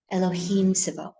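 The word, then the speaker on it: אלהים: left arm we said circulatory system and we said it's it's Elohim both written and pronounced Elohim.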